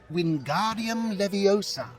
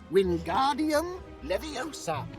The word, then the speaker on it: Wingardium Leviosa: Its incantation is Wingardium Leviosa, just like this. Wingardium Leviosa. Pay attention to your pronunciation. It's Wingardium Leviosa. Remember, make the ga nice and long.